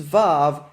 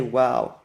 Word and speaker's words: Waw: The reason is that Waw versus Vav is merely a difference of dialect. In different dialects of Hebrew, some people say Vav and some say Waw.